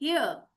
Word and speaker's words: hare: और जब हम आर पढ़ते हैं तो आर को जाके हम साइलेंट करते हैं, हियर। आर नहीं पढ़ना, इट इज हियर। आर silent, totally silent.